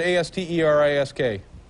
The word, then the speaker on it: asterisk: How do you pronounce the word A-S-T-E-R-I-S-K?